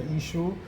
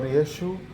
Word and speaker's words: Isho: So you can say Ishu or Yeshu or Isho.